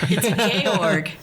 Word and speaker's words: Georg: No, it's Georg. Georg. It's like George without the E at the end.